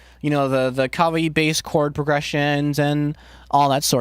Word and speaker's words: kawaii: It's like, it's kawaii. Kind of like acai, like the bowl, like the fruit. The bowl, no, the fruit. It's not kawaii like Kawhi Leonard. It's kawaii.